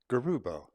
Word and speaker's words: Garubo: And Gianni said, well, please let them know that my name, Gianni Garubo, has both a soft G sound in it, Gianni, and a hard G sound, Garubo.